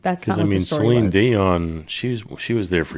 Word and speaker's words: Dion: It's not Dion, it's Dion. Okay. Selene Dion. What am I saying wrong? That's not wrong. Right. It's the emphasis on the wrong syllable.